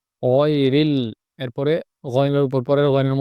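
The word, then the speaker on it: غَيْرِ: শেষ থেকে গইন খ, ওখান থেকে ডিপলি খুব গভীরভাবে উচ্চারণটা হবে গয়রিল, গয়রিল। এখানে গাইরিল অথবা গাইরিল বললে হবে না, গয়রিল বলতে হবে, বাংলা গরমুক্ত উচ্চারণ হবে না, গয়রিল।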